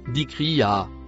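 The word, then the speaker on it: ذكراها: Le mot en bleu clair se prononce dikri, suivi du mot en noir qui se prononce a.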